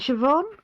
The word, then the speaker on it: Siobhan: So it is spelt completely different to how it's sort of said. And it's is it Siobhan?